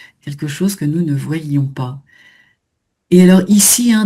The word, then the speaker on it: voyions: Exactement, voilà, pour bien faire entendre l'imparfait. Hein, voyons sans le i, nous voyons, nous ne voyions pas. Hein, c'est pas facile, mais effectivement, il faut le faire durer un petit peu plus.